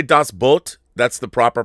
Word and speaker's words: Das Boot: in Germany is called das Boot. Not Boot, Boot. So if you say das Boot, that's the proper pronunciation? Correct. Das Boot. Just cut one O.